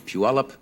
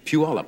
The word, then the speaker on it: Puyallup: If you are looking at these lovely flowers, I think these are sent, as they are every year, by the Puyallup Daffodil Festival in Puyallup, Washington.